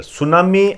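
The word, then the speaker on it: tsunami: सुनामी आप जानते ही हो, इसको वैसे तो ऐसे लिखते हैं, टी साइलेंट होता है इसमें।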